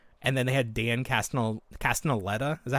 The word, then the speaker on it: Castellaneta: this Adobe software, and then they had Dan Castellaneta. Is that how you pronounce his name?